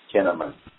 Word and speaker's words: Kinneman: the name of Mike Kinneman, and it's like the word cinnamon but spelled with a K to start, so I want people